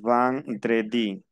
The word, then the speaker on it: vendredi: Van, E-N se pronuncia an. Yo digo vendredi.